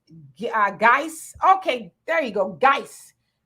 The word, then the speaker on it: Guice: ashanda you says hey sister is pronounced geiss okay there you go